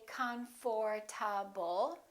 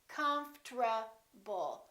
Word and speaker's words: comfortable: it we don't say comfortable this is what happens the O disappears but then there's one more very strange thing that happens and that's the RT becomes a TR they change positions listen comfortable comfortable comfortable I'm very